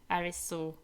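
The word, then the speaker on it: 有栖: anime would be Alice, Arisu, whatever. The Japanese pronounce is Arisu Sekanagi. I feel you on this, since you've been correcting me the entire stream. and the English one is Alice.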